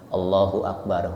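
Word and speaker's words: الله أكبر: katakan Allah Allahu akbar hati-hati bacanya Allahu akbar hu Akbar bukan nanti kalau tercepat allahu akbar allahu akbar allahu akbar Ada apa J di baca pakai bukan hu tapi pakai apa wa allahu akbar allahu akbar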